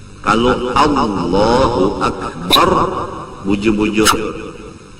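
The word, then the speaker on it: أكبر: Kalau Allahu Akbar bujur-bujur, jangan membaca A menjadi Ain, Akbar dibaca Ain, seperti Allahu Akbar.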